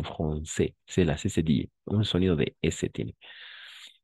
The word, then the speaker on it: français: Ne es francais, sino français.